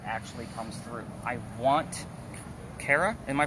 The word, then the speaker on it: Kara: I want Kara, am I pronouncing that properly?